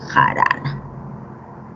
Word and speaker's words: jarana: Pero la palabra jarana no lleva tilde, lo que estoy marcando aquí es el acento, ¿no? Entonces ahí está, jarana, ¿ya?